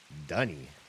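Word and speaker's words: D'ni: Also, I did notice in that last cutscene, Yisha pronounces the name of the city the way, in my brain, it should be pronounced. I sat through as many Myst games as they pronounced that word, cringing at their pronunciation.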